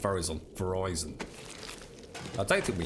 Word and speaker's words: Verizon: Oh, Verizon, as in rhyming with Horizon. Oh, not Verizon.